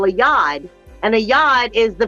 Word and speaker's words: yod: They're a lot like what we call a yod. And a yod is the finger of God. Or yud, if you say it in Hebrew. But in astrology, I believe we can now pronounce it as a yod.